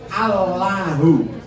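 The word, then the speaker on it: الله: Lamnya lafal Allah ini harus dibaca tafhim. Baca Allahu menjadi Allah. Ini cara yang membacanya harus diperhatikan. Ujung lidah harus tetap dibusi. Asalnya Allahu cuma suaranya ditafhimkan aja. Allah, ya tidak wo. Dan sering anak-anak membaca Allah itu wawu. Wawu itu berarti bukan lam.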